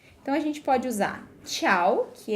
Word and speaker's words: tchau: expressão principal, tchau, que soa igual à expressão do italiano, tchau, the sound is the same, but in Portuguese it's written with T, A, C, and H, tchau, and U in the end, and in Italian it's written C, I, A, O, right?